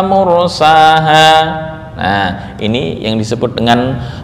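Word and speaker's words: مرساها: Kenapa yang dibaca imalah kok enggak semuanya? Dari segi wazan kan sama tuh, majroha mursaha, harusnya bisa dong majreha wa murseha. Kenapa kok cara membacanya harus majreha wa mursaha?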